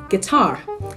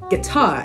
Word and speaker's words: guitar: this word it is guitar guitar it is not g or no did not pronounce the U guitar he plays guitar